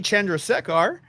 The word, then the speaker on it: Chandrasekhar: God, I can't pronounce it like he did. Chandrasekhar. Chandrasekhar.